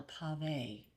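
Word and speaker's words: pavé: And then there is a cake made without flour, and it's called a pave. It's spelled P-A-V-E.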